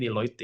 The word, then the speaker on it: Deloitte: Bacanya Deloitte ya. Setahu gue sih Deloitte ya.